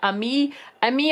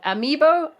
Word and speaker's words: amiibo: lot of the Nintendo ME ME over I always say it wrong amiibo you know the little